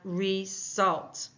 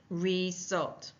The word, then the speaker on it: result: little uh clue there is that little comma or apostrophe like thing after the schu e that's that's putting the emphasis on the second syllable so we see the split after the E knowing that the next syllable begins with that phonetic symbol for S so we have result result now that schw